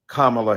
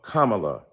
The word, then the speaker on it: Kamala: upon on misnaming mispronouncing kamla Harris do you call Melania Melania do you call Ivanka Ivanka then call Kamala Kamala then call vice president